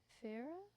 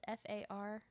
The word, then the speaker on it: Faria: So, we are going to talk about the murder of Betsy Farah. I did not learn how to pronounce the last name. It's Faria. All right.